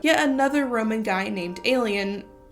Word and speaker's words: Aelian: Yet another Roman guy named Aelian - it's spelled A-E-L-I-A-N.